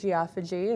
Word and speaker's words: geophagy: So there are different types of pica, and geophagy is one of them. Also to be pronounced as geophagy, if you are Canadians, tend to pronounce it that way.